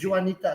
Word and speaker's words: Janita: where's Nazim we so now is Janita that's how you pronounce it's an African's name Jita say you must say your surname what's your So we have Yanita here from um one